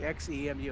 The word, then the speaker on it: xEMU: that's what we're going to do on our xemu suit today did i say it right patricia